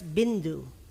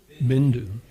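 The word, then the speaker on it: बिन्दु: So if you have only one consonant, it's different for the vowel before it.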